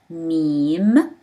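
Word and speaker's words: ميم: Meme, mean, pronounced as M.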